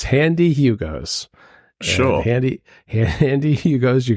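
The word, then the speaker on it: Handee Hugo's: And Handy is spelled HAN-DEE. So it's Handy Hugo's.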